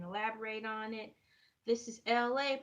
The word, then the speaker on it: Elay: This is LA, pronounced like LA like the city.